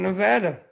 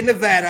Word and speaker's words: Nevada: And you notice I say it right. I say Nevada. I don't say Nevada. I say it correctly.